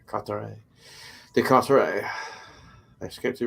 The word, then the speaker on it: Carteret: Oh, they don't pronounce E-T. I know that's silent in French. Carteret. Carteret.